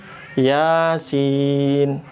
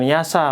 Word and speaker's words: Yasin: Yasin enggak banyak bukan yasa bukan yoso.